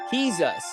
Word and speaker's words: Jesus: is me and you Jesus the J is pronounced H he's us Jesus is he's us